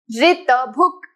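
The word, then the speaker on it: ऋतभुक्: Ritabhuk. Okay, Gujarati we say it ru, but specifically in Sanskritam, if you are doing it in a correct pronunciation, you have to be careful about not ru but ri.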